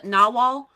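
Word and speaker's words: nahual: Well, it's pronounced Nawal.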